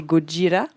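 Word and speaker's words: ゴジラ: Mais non, j'ai pas grand chose à rajouter, si ce n'est que moi j'avais noté que donc pour la prononciation quand même en japonais c'est Gojira et donc le groupe métal, le groupe de métal français, le groupe métal.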